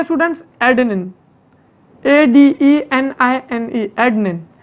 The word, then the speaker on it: adenine: पहली चीज होती है स्टूडेंट्स एडेनिन, ADENINE, एडेनिन। बहुत से लोग इसको एडेनाइन भी बोलते हैं, ठीक है, स्पेलिंग याद रखने के लिए, ठीक है, ऐसा बोलो कोई प्रॉब्लम नहीं।